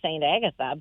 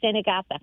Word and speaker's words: St. Agatha: So, if I know I understand the way that you think it should be St. Agatha, but it was always Santa Agatha.